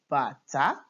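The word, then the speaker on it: bàtá: You can see that they are spelled the same way, but this is pronounced bata, the drum.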